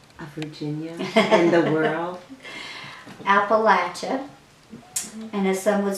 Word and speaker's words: Appalachia: Appalachia. And as some would say, if you don't say it right, we'll throw an apple at you.